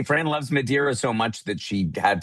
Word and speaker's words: Madeira: Madiraa is how they say it locally. So, I sometimes pronounce it the the the the way they do there.